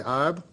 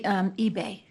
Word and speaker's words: Ibe: The chair calls Ibe. Did I pronounce that right? It's actually eBay. eBay. It's actually Nigerian.